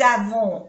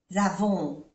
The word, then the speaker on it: avons: La télé que nous avons, aquí hacemos la unión, avons, la télé que nous avons, no se pronuncia la S, O-N-O, avons, nous avons, à la maison, A-I-E-O-N-O, maison, est bien.